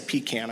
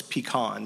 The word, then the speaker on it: pecan: And Miss Jenny has kind of a Duck River famous, I say pecan, I know it's pecan, but I'll say it wrong if I think about it too much, pecan pie that she makes for every board meeting.